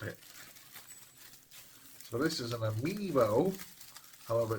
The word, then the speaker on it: amiibo: How do you pronounce this? It is called an amiibo.